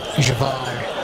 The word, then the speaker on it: Javar: And Javar, which is how I pronounce it, was born from Javar, which is Jagannath.